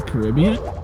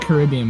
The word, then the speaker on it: Caribbean: I mean, Caribbean? Uh-oh. Commentator starting a fight. I don't say it Caribbean because people who say it like that need to go get their brains checked.